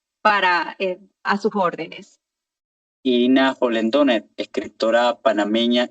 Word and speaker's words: Hollendoner: sociales, todas ellas, Irina Holendoner. Holendoner se escribe con Hollendoner. N-E-R. Es un apellido largo, pero es facilito porque solamente hay que colocarle la H, la doble L y es Polendoner, y ahí estoy pues